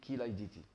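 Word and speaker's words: Chilaiditi: Ça s'écrit chylaiditi, ça se lit chylaiditi.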